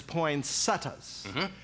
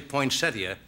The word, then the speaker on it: poinsettia: good professor say yeah one of the correct pronunciations of used infrequently yes is poinas as you say and the other one is poin setas and it is an indication of your manliness in how you pronounce it in other words you're